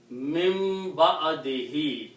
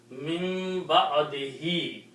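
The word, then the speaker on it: مِنۢ بَعْدِهِۦ: Again, by the rule of tajweed, if you have a ba and there is a noon before with a sukoon, then this noon is pronounced as mim.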